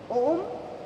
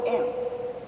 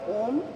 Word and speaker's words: Om: chandra bindi on top om in sanskrit is a three and a half syllable word it is not om when we meditate it